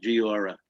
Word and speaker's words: Giora: Yeah, that's how he likes to do it. Uses the whatever pronunciation, Giora.